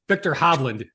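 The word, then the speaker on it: Viktor Hovland: you can correct me when I say their name wrong Victor hobland did I get that right you got it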